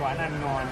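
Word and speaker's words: Quán Ăn Ngon: คะ ใช่ เลย ครับ ร้าน นี้ ออก เสียง ว่า กวาน อัน งอน ครับ อีก ที สิ คะ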